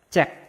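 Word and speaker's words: 책: Nah, yang pertama ada ciet, ada berarti dibacanya c. Ada konsonan akhir giok k, berarti dibacanya cek. Nah, ini dibacanya cek.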